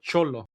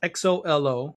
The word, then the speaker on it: Xolo: But Cholo, it's Xolo, which is a type of dog, a Cholinkle.